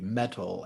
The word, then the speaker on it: Mettle: yeah thank you yeah so mental health first it's spelled m-e-t-t-l-e metal as in like one's inner strength one's inner